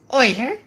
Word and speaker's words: Euler: The name is pronounced as Euler, which is both the same as the mathematician and also a pun on the roll.